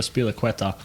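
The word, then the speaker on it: Azpilicueta: Maybe I went for a Spiliqueta. Yeah. Did I nail that pronunciation?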